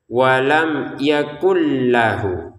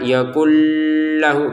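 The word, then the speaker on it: ولم يكن له: Walam yakun bacaannya walam yakul ya tulisannya walam yakun. Iya kan? Maka di depannya ada lam maka masukkan ke lam sehingga kita bacanya walam yakullahu. Yakullahu dan tidak usah ditahan. Yaaklhu enggak boleh ya.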